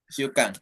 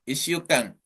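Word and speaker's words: 一週間: Berarti tetap Ichi ya sih saya bacanya. Ichi Sukang gitu ya. Tojinya hilang. Jadi S, double S. Kan setelah Ichi itu kan Shu ya. Berarti kan hurufnya kan S ya. Berarti ikut yang S-nya.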